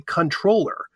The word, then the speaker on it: comptroller: was one of them the other one was comptroller it's really controller but when these patents